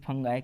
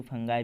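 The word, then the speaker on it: fungi: एक ध्यान में रखो, मैं कभी कभी उसे फंगाई भी बोलता हूँ और फंगी भी बोलता हूँ। सो प्रॉपर प्रोनाउंसिएशन है फंगी करके। सो फंगाई पर ध्यान ना दें, लेकिन मैं ही बोल ही देता हूँ, मुंह से निकल ही जाता है। सो प्रॉपर प्रोनाउंसिएशन बहुत ज़रूरी है, लेकिन फंगी करके है।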